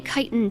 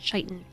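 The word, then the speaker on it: chitin: is a spider egg you say kitan too so yeah that's that's the first and only time I've ever heard tiitan pronounced chitan um it might have just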